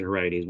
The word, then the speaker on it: Heriades: Heriades. I pronounce it Heriades.